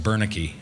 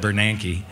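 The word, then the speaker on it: Bernanke: when that convention happened I called him bernicki not Bernan and uh home price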